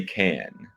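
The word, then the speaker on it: Cannes: not act too fancy I would say can can okay yeah no one's saying Khan sorry but like cat cat but no s yeah gotcha okay so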